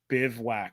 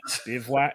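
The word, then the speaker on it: bivouac: By the way, the tent is pronounced Bivwack. I kid you not. Bivwack.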